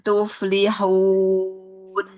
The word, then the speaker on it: تفلحون: Wabtagu, wabtagu, wabtagu min fadlillahi wazkurullaha katsiran la'allakum tuflihun. Lagi. La'allakum tuflihun. La'allakum tuflihun. Masih kurang ke tengah, Mi. Oh, ininya. Tuflihun. Oh iya. Tuflihun. Ya, huruf fa-nya ngalir dulu biar tidak mantul.